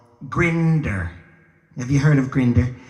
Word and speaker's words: Grindr: And I found something called Grindr. Have you heard of Grindr? Yeah. I'm not finding the right girl there. Of course, John Travolta told me it's pronounced Grinder.